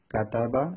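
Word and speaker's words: كَتَبَ: যেমন এখানে লেখা রয়েছে কাতাবা। আপনারা জানেন কাফ জবর কা বানান করলে কাফ জবর কা, তা জবর তা, বা জবর বা, কাতাবা।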